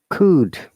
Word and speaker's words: could: Could. In could, L is silent.